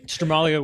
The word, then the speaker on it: Stramaglio: Stramaglio with the soft G.